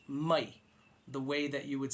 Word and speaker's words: mai: not I okay so it's a short type rather than a long loose pronunciation of I it's I almost like